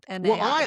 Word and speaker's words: MAI: Are they pronouncing it my or A I? I think it should be my, but they are calling it MAI because they're Microsoft, they